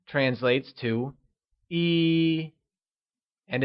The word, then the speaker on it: 一: 1 translates to 一 and is pronounced with a high level tone. Can you say 一?